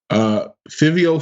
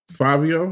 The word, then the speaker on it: Fivio: Fivio Foreign. Fabio, is that how you pronounce that? That's how you pronounce it. All right. It's like the FIV in the number 5 because clearly.